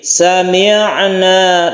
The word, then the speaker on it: سمعنا: Untuk ain ini bersifat tawasud, artinya tidak terlalu ditekan dan tidak terlalu dilepas. Jadi sami'na lemas saja membacanya. Sami'na wa ata'na wattaqullah.